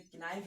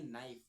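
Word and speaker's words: knife: अब इसे किनाइफ नहीं पढ़ेंगे। से पढ़ेंगे नाइफ।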